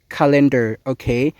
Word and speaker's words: calendar: foreigners and speakers will don't understand when you pronounce ຄຳນີ້ເຊິ່ງຈິງແລ້ວຄຳນີ້ອອກສຽງວ່າ cender calendar Everyone repeat after me.